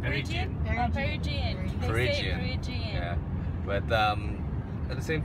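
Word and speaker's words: Peregian: was called Perigian Beach, which sounds like Legian Beach in Bali. How do you say it? Perigian? Perigian.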